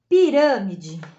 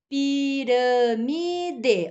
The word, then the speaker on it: Pirâmide: Pirâmide. Pirâmide. Ó, tem 4 sílabas. 1, 2, 3, 4. E a antepenúltima está acentuada. Binóculo. Binóculo. Ó, tem 4 sílabas e a antepenúltima está acentuada.